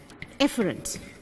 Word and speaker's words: efferent: I say it like how I'm going to pronounce it. Afferent. A comes first. A is the first letter in the alphabet. And the thinner one, efferent. Efferent, E for exiting.